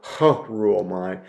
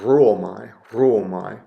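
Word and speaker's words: ῥύομαι: with a rho, and it really doesn't add anything significant to the pronunciation. So you don't go, ruomai. Maybe you give a little bit of a trill to the R, ruomai.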